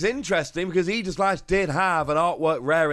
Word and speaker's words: Aegislash: So in at number 4, I'm going to put Aegislash. And yes, that is the correct pronunciation.